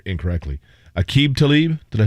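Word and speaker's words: Aqib: former nfl cornerback and i'm gonna i always pronounce his first name incorrectly akeeb talib did i say that correctly yeah they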